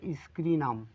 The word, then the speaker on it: Scirrhinum: লিখে ফেলি রেমিডিটির নাম বাংলা উচ্চারণটাও লিখি স্ক্রিনাম ঠিক আছে এই ঔষধটার নাম হচ্ছে স্ক্রিনাম এবার এই ঔষধটি সম্পর্কে